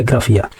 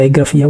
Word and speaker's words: एग्राफिया: उसे ही बोलते हैं एग्राफिया, ठीक है। तो एग्रोफिया बोलिएगा या एग्राफिया, वो एक ही बात है, हालांकि इसे प्रोनाउंसिएशन तो एग्राफिया ही करते हैं।